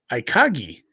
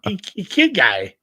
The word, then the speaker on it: Ikigai: So it's called Ikagi. I don't know how to say it right. Ikigai. It's Japanese.